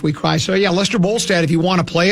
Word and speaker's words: Bolstad: You're really making me mad by closing Les Bolstad, though it's Bolstead. It's Bolstead. Well, you can just rhyme the last syllable.